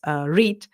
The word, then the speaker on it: REIT: it says are EIT it's pronounced read what it what it